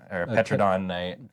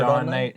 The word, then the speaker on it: Pterodon Knight: like Petrodon Knight, or yeah, Pterodon Pterodon Knight. Yeah, She's- the P is silent.